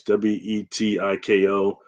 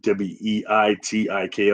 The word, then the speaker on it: Wetiko: Okay, the concept of the Wetiko, I've heard it pronounced different ways. Wetiko. It's even Weitiko.